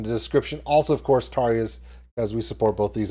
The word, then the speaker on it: Tarja: Her name starts with a T, rhymes with Arya. Yeah, all right, so here we go. Tarja, Marco, back together.